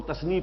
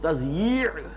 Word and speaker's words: تضییع: میں لکھا ہوتا ہے تو لوگ تثنیہ پڑھتے ہیں اسے، تثنیہ اوقات. یہ جو کہتے ہیں وقت کو ضائع کرنا تو وہ تثنیہ پڑھ دیتے ہیں اس کو، وہ تضییع ہے.